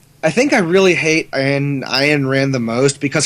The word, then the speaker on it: Ayn Rand: I think I really hate Ayn Rand the most because her name's fucking Anne and she insists I pronounce it differently. It's Ayn Rand.